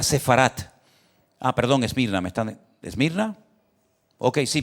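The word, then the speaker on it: ספרד: Saben que España, la palabra España, el nombre, el país de España en hebreo, que está en la Biblia, se pronuncia Sefarat.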